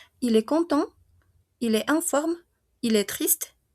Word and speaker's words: content: Porque como estamos hablando de femenino, ella está contenta, ¿verdad? Esa A que tenemos ahí en español normalmente se reemplaza en francés con una E, ¿d'accord? Entonces, si aquí il est content, solo pronuncio hasta mi EN.